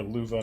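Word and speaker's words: Löwe: It's more Luva, not low.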